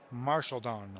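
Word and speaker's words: Marchildon: can uh if I can get a a pronunciation for this guy here marelon marshallon so it's a marshallon all right so here's Teddy Williams two gone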